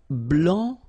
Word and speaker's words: blanc: here, okay, so here, masculine, blanc, don't pronounce the final C, and then blanche.